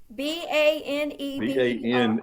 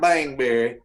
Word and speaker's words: Baneberry: Baneberry. Bane, Berry. Not Bangberry, No. Baneberry.